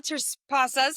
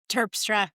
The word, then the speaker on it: Terpstra: My guest today, Michelle Tas, did I say that right? I butchered it. Michelle, what is it? Turpra, I'm so sorry.